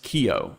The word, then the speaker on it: Kio: I reached out to the type designer, Daverson Ribeiro, Brazilian, it is pronounced Kio. I asked if it was Ko or Kio. It's Kio.